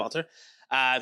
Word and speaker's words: Valtr: So my guest today is Valtr. Mm-hmm. Is that how you pronounce it? Yep. Valtr.